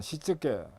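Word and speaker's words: 躾: OS라는 것은 정리정돈 청소 정결 습관인데, 일본어로 발음을 하면 정리는 세이리, 정돈은 세이돈, 청소는 세이소, 청결은 세이게츠, 습관어는 시쯔게, 시쯔게 이렇게 읽습니다. 그래서 OS입니다.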